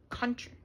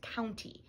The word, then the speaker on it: County: charts in here it's country I was saying it wrong last time I was calling it Country Fair one and Country Fair 2 is no it's County County Fair one and two